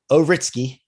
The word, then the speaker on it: Ouritski: with the nft space um this gentleman ovritsky does pronounce that right you got it right i